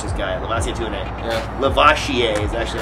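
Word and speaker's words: Lavasier: Lavoisier is actually how you're supposed to pronounce it.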